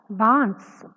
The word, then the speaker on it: बांस: थी दोनों शब्दों में चंद्र बिंदु का फर्क है एक शब्द ऐसा है बास जहां पर किसी भी प्रकार का बिंदु या चंद्र बिंदु नहीं है जिस वजह से उसका उच्चारण अलग है बास याने देखिए नीचे